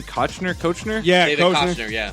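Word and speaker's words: Koechner: How do you pronounce his name? Kochner.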